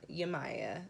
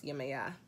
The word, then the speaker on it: Yemaya: y'all been mispronouncing this it's not Yemaya this is pronounce you may yeah you're my god you